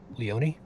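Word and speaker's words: Leoni: How do you pronounce that? Leone.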